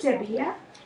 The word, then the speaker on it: where: Wia. W H E R E. Right. The E at the end is silent, but so is the H.